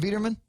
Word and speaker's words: Wiedermann: Was it Wiedermann? Wiedermann. Wiedermann. Okay. Wiedermann. It's too German with this hard W.